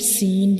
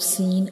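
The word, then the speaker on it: سين: When we read seen, we will stretch it for 3 seconds, and when we pronounce seen, the whistle sounds come because this is a whistle letter, like seen.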